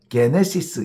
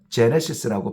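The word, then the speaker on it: γένεσις: 헬라어로는 게네시스 이렇게 번역을 합니다. 게네시스를 영어에서는 글을 따와서 제네시스라고 발음을 하죠.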